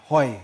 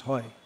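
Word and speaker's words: হয়: Hoi. It's pronounced hoi in Bengali.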